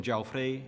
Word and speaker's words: Jaufré: Some words have final stressed vowels, as in Jaufré and NIC.